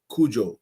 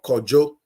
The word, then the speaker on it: Kojo: In the Ewe tribe, it's pronounced Kujo or Kojo. The Ashantis or the Khan will say Kwejo.